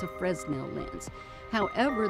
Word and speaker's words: Fresnel: lens because it's spelled f-r-e-s-n-e-l americans like to say it's a fresnel lens however the man that invented this type of lens for lighthouses was a frenchman and so we have